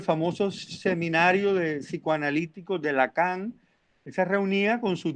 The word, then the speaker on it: Lacan: es jacques lacan jacques lacan así como se escribe la cama pero sin acento jacques lacan es un